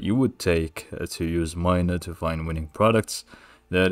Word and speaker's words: Minea: you comment on it you can actually pronounce it either Mina or minia it just depends on how you want to say it I'll just stick with Mina for the sake of